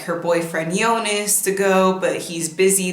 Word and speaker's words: Jonas: In the first season, we follow this character, Eva, and she has a boyfriend named Yonas. I have to fight the urge to say Jonas, but they pronounce it Jonas.